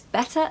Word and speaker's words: better: than never pronunciation tip don't pronounce the r on the end of better now I think I've talked to you about this before but ER on the end of a word is actually a schwa sound so it's not